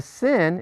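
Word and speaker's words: שׂ: on the right okay the sin is pronounced as a simple S this the shin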